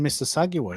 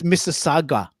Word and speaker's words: Mississauga: The U is silent. So I think it's Mississauga.